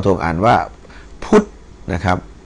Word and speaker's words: พุทธ: อุ เอ่อ ทธ ทหาร ท ธง อ่าน ว่า พุทธ นะ ครับ ัน นี้ อ่าน ว่า อ่า พุทธ